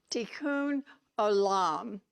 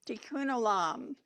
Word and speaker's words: tikkun olam: It's pronounced tikkun olam, tikkun olam.